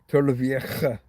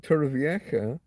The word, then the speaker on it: Torrevieja: Regional pronunciation, and so some words, a J can be. It's like a K, like kicking K, capital K. Um, Torrevieja. It's that guttural.